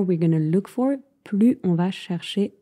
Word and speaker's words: plus: Plus on se focalise sur le négatif, the more we're going to look for, plus on va chercher à confirmer nos pensées négatives. Mais donc, attention à ne pas prononcer le S.